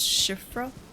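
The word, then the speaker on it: Siofra: How do you say that? Shifra? I think it's pronounced Shifra. Because it's like Irish.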